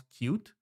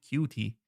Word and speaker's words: Qt: you're supposed to call you're supposed to pronounce cute, which I think it's a missed opportunity because they should have called it cutie.